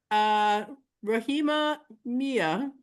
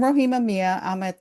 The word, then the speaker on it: Rohima Miah: Because some people want to pronounce my last name wrong because of that H. Yeah, I'm Rohima Miah.